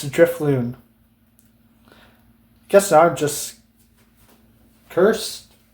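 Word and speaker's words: Drifloon: I said Driftbloom earlier, both times, when it's Driftloon.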